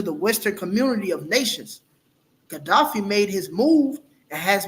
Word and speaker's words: Gaddafi: Yet Libyan strongman Muammar Muammar Gaddafi. Gaddafi, Gaddafi. So, like, how Yep. did you pronounce that? Gaddafi. Yeah, Gaddafi.